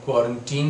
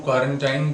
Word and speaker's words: quarantine: हूँ कि एक्चुअल में इसका जो करेक्ट प्रोनाउंसिएशन है वो क्वारंटीन ही है। और अब रीज़न यहाँ जो हम क्वारंटाइन बोल रहे हैं, तो जनरली लोगों